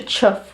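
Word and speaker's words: chough: surfboard at the sea this is a chuff which is the um Cornish bird the the what they would class is their national bird but this is their their bird it's spelled c h o u g a H chuff we've got a sand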